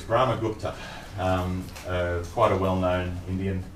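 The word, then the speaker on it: Brahmagupta: wrong but it's interesting okay how do you pronounce it it's brahma gupta um quite a well-known indian mathematician we're in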